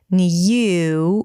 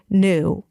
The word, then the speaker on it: new: So it's an N sound, a y as in yes, new, and then oo as in food. Round your lips, push them forward, and bring the tongue back up.